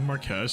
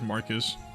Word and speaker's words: Marquess: So, the Marquess is basically just a lord title, if you didn't know. I used to pronounce it as Marcus.